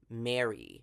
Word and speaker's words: Male: Male is actually Mary. They say it like May Lee.